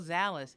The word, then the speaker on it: Zalis: texas how are you i love dallas my name rhymes with it i know it's so